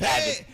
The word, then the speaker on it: Abid: Is it Avid or Avid? How do you say your name? Yeah, Avid. It's Abid.